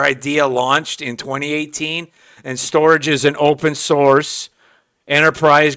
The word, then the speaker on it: STORJ: Channel today we're going to look at the storage project not pronounced storage but it's called storage and the way you can use your access